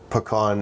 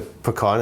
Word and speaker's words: pecan: So I didn't actually ever call it pecan until my in-laws moved down to Houston. And then they were the ones who informed me that I'd been saying it wrong forever. Apparently the pecan is that's a Canadian way to say that. Pecan is? Because it's French.